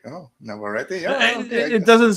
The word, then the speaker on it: Navarrete: Like Navarrete sounds like a powerful name. Yeah, like someone's gonna rip your heart out. Which never ready. Never ready.